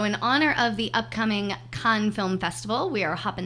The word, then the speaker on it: Cannes: bloopers and little fun Why don't we say Cannes? Canis. Because it's not how you say it.